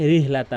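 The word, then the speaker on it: رحلة: ইলা একালিফ করে ইলাফিহিম রিহ, অধিকাংশ লোক রিহলাতা বলে, রিহলাতা রিহলাতা। এখানে কিন্তু বড় হা রয়েছে, বলতে হবে রিহ রিহলাতাশ শিতা, এখানে কিন্তু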